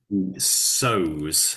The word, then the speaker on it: sews: Sews. So even though it's su, we say it like sews.